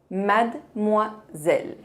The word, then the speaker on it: mademoiselle: A letra E no meio não se pronuncia.